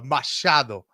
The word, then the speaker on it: Machado: Machado. All right, let's hear Ian. The future, Ian Machado Garry.